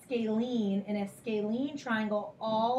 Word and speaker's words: scalene: lengths or be congruent and then this is pronounced scalene and a scalene triangle all of the sides